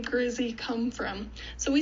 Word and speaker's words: Grizzee: to cover today is where did the name Grizzy come from so we spell it g-r-i-z-z-e-e as opposed to Grizzly with an